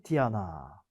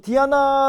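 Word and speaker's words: Diana: 연결이 된 거죠 그래서 숲 사냥 달의 여신 디아나 뭐 디아나 라고 발음 하지만 우리가 왜 서양 이름 중에 많이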